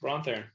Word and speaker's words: Bron Theron: Yes, you did it. Bron Theron. My mouth wanted to go to how I said it wrong the first time, and it was like, no brain. Let's get this together. Yeah, that's correct. Bron Theron.